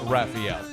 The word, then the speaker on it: Rafael: Muse, it is actually Raphael.